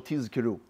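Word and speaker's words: תזכרו: Some people make a mistake. They say tizkiru with a sin. That's misproper pronunciation. You have to say zzz. Hear the Z sound.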